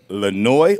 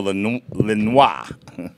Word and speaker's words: Lanoie: Action Partnership, Special Sheriff David Lanoie or Lanoie. How should I pronounce it, my friend? Right. Well, either way is right. Okay. It's French. It's a French name.